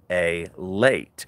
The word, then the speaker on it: LALATE: So LALATE is pronounced LALATE.